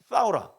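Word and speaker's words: ثورة: 싸우라. 너무 재밌죠? 꼭 우리나라 말 같죠? 싸우라 싸우라 막 이렇게. 혁명이 아랍어로 싸우라예요. 그냥 혓바닥을 내고 발음하셔야 돼요.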